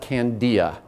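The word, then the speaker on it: candelilla: It's spelled C-A-N-D-I-L-L-A, and you call it candia.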